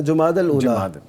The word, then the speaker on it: جمادی الاولیٰ: عام طور پہ جمادی الاول جمادی الثانی جو کہا جاتا ہے, یہ اس کا تلفظ ٹھیک اصل جو آپ فرما رہے ہیں جمادی الاول اولا جمادی